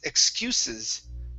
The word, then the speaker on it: excuses: excuse uh excuses it's excuses okay yeah the first s is unvoiced excuses excuses okay very